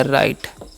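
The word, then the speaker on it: right: और आर आई से हो जाएगा राई, और जी एच साइलेंट है, टी सेट तो हो गया राइट।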